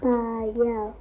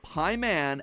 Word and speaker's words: Paimon: All three of them, Bael, Pie Man, and Ba lamb, are phonetic ways of pronouncing the names Bael, Paimon, and Balaam, three king demons from the Ars Goetia.